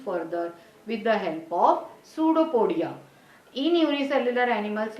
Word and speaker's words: pseudopodia: o d i a even it it begins with p you have to pronounce it as pseudopodia okay see the next